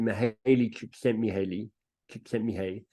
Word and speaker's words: Mihaly Csikszentmihalyi: Some of you might know the heard of Mihai, I think you pronounce it Mihaly Csikszentmihalyi.